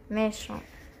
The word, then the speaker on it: méchant: اللي نزيدوها لو فيمينا ميشون ميشون هذه سهله نرجعوها ميشونت هنا الأو ما كانش تي ما كانش تنطق كي زدنا الأو تتنطق ونقولو ميشانت صح هنايا كان عندي تتكمل